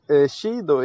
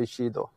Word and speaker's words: Shido: Shido is actually the correct one, to be honest, because it's Japanese and they say Shido.